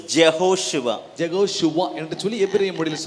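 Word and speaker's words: יהושע: இருக்கிறது எபிரேய மொழியிலே ஆமென் his name in hebrew is jehoswa ஜெகோஷுவா என்று சொல்லி எபிரேய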